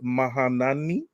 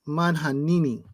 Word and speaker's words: Manhanini: The cover artist is Mateus Mahanani. Almost. Close. Mateus Manhanini.